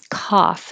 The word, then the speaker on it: cough: If not, if you don't open your jaw enough, it'll sound like cuff. And that sounds like the cuff, the sleeve, a totally different meaning, totally different word. This is cough, as in coffee. Cough.